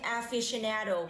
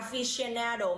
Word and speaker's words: aficionado: Không có ai nói là traveling aficionado cả, aficionado mới đúng.